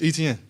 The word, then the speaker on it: Etienne: So I'm like, man, it's Etienne. Like how you see it is how you say it.